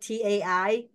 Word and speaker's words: TSAI: is my dad's name they just spell differently in the Vietnamese they just put T AI but in Chinese you you say it correctly it's Tai so it's TS Ai and and I I